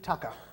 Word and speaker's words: tucker: We call food tucker. Now, tucker is spelt T-U-C-K-E-R. If it's got E-R at the end, it's pronounced ah, U-H.